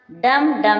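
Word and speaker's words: dumb: Com means कंगा, इसमें भी silent है। लेम मीन्स मेमना। डम मीन्स गूंगा।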